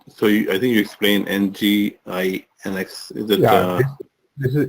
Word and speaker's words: Nginx: And so I think you explained NGINX. Is it? Yeah, this is Nginx pronounced as Nginx.